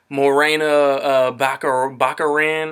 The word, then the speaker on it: Morena Baccarin: Jason Statham Allison Janney but Bobby Cannavale II morena baccarin I think is how you pronounce her name is probably not Leslie Thompkins